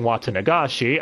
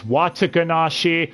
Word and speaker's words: Watanagashi: i already mentioned oishii constantly mispronouncing watanagashi as wataganashi watadanashi mayabara tamabra ryugu to rugu